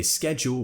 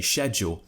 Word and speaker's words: schedule: is do we say schedule or do we say schedule I've actually mentioned this in